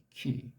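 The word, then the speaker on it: כי: 요거 키. 발음이 키예요. 요 모음보 요거를 이제 넣었기 때문에 그렇게 이제 발음하는 거지 키인지 뭔지 아는 사람이 누가 있어이까?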